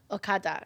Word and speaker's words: okada: we get on the akada that's spelled o-g-a-d-a that is okada yes i'm sorry my english accent kind of like butcher it for you guys but don't come for